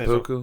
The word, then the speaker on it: seppuku: So it's called, in Japan, it's called, and I'm probably pronouncing seppuku?